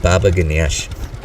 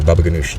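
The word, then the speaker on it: baba ghanoush: I really like Baba Ganesh, or Baba Ganoush. Depends on which part of the desert border you're on, how you pronounce it.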